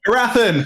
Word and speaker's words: Harathan: Harathan, that's his name. Harathan. I love Harathan. Yeah. Harathan's great. And that's how you pronounce that.